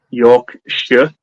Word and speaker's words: Yorkshire: Yorkshire. So when you see Yorkshire. Shire on the end of Shire. something, it's pronounced Shire.